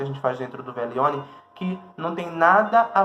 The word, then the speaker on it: Veglione: O Velione que se escreve Veglione, mas se pronuncia Velione, que é o nosso ritual de lua cheia.